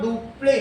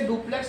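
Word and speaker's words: Dupleix: तो इसमें बताओ, डुप्ले, हिंदी में इसे डुप्लेक्स नहीं बोला जाता है, हिंदी में डुप्ले बोला जाता है। इसको क्या बोला जाएगा? डुप्ले। आगे की चीज साइलेंट है।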